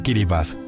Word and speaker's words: Kiribati: Kiribati, capital Taragua Sur, pronunciado Kiribas.